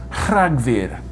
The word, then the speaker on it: Rhagfyr: Another cool Welsh sound is r, which is spelt RH. It's a rolled r, but without the voicing. December is Rhagfyr.